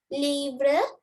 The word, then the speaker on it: livres: But here livre, livre. The reason is I told you S is silent in French.